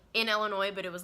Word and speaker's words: Illinois: And by the way, it's pronounced Illinois, not Illinois, because a lot of people say it with the S at the end. You don't say the S at the end, okay?